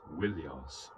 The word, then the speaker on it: Ilios: In the Iliad, Homer calls the city by two names, Troia and more often Ilios, originally pronounced Wilios.